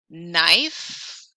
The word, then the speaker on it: knife: says the letter B knife why is that K silent often do you really